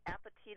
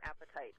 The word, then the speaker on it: apatite: So I know it's a weird name, but if you think apatite is spelled like appetite, yeah. So calcium apatite, calapatite.